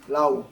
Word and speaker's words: Laoe: So it pronounced? Laoe.